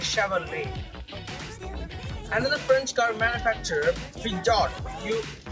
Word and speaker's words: Chevrolet: Actually, the Chevrolet is written as Chevrolet, but the T is silent and you should say it as Chevrolet.